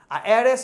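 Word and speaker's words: heiress: एयरएस इसी का फीमेल हो जाता है, एच साइलेंट है, इसलिए एन एयर, एन एरएस।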